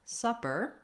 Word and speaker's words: supper: in how they sound first of all super and supper both have the stress on the first syllable so in the word super the stress is on the su and in the word supper the stress is on the sa these do follow a typical rule in american english where when we have the double consonants the pp we have the uh sound and the single consonant